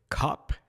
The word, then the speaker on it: Koepp: And writer David Cop. I don't know exactly how you say his name. It's spelled like co co-ep. Co-ep. But I feel like it's just like cop.